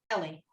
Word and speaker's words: Eli: little bit one is ali ali the priest you know at the beginning of the book of samuel uh elite that's how you say it in english yeah ellie ellie okay so ellie the priest